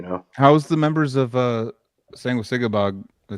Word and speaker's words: Sanguisugabogg: How's the members of Sanguisugabogg?